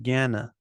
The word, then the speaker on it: Gana: and then this one Gana the right way to pronounce this is follows the same pattern there's a long vowel but this one is simple it's a long syllable because it's got a long vowel Gana Karma yoga they all